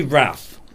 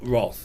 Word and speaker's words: wrath: this problem in faith well i say wrath yeah so do i but i think it is rot roth is that where if you're doing receipt pronunciation i say bath and path and wrath and is that because